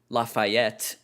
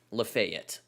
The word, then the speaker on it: Lafayette: And there is a town that looks like it should be pronounced Lafayette, that is pronounced Lafayette.